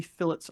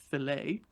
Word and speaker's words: fillets: want to add any fillets onto uh the Pico so I can turn that off then I'm going to click on fillets make sure it's not pronounced filet then I can click